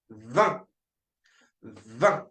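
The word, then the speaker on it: vingt: And finally, we've got V. V. V. So V for 20. In V. We don't pronounce the G and the T in the end.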